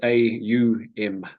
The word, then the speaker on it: Om: Well, yeah, first of all, just to explain what Om actually is. We see it often spelled OM, but Yes, actually the way it's pronounced is AUM.